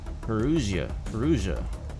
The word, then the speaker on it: Perugia: Perugia. Now I know how to pronounce that.